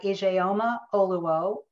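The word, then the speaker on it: Ijeoma Oluo: so you want to talk about race by ajayoma oluwo let me spell that i j e o m a that's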